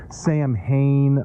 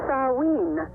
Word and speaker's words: Samhain: now you met you pronounce this name as saw ween I've heard we just heard in church last Sunday the youth pastor was saying Sam Hayne um is this all the same thing it's just different pronunciations um yes Mark in fact just spent